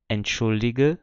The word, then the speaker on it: entschuldige: Quando eu conjugo esse verbo, quando a terminação começa com uma vogal, eu vou formar uma nova sílaba com aquele G. Então, por isso ele ganha o som de G normal.